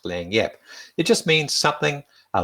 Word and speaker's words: lagniappe: It's not spelt that way as you can see on the screen, but it's pronounced Lagniappe.